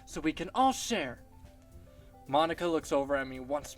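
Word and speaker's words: Monika: Technically, okay, if we were to go off of their Japanese pronunciations, it'd be Sayori, Natsuki, Yuri, and Monica. It'd be Monica, not Monica, like from Friends.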